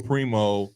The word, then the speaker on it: Primo: like I said Joshua Primo Primo Primo uh what's his name Primo Prime let's go Prime Primo it is primo you said it right it's Primo Primo